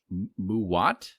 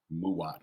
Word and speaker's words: MUWAT: not the word that I was going to mispronounce Kentucky fire cured muat mu m u w a t muat something like that this is from subculture Studios